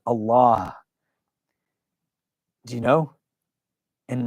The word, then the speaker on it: Allah: from a pronunciation standpoint the AL if comes from the throat the L in Allah is a full mouth letter and the ha is aspirated so like in Every Breath You can say Allah do you know and